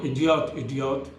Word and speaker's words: Yediot: और जो एक इसराइली न्यूज़ एजेंसी है इडियोफ, अब वो इडियोट जिसकी स्पेलिंग है YEDIOT, उसकी बात माने तो बिल्कुल सब सारी चीज़ें बिल्कुल सही चल रही हैं।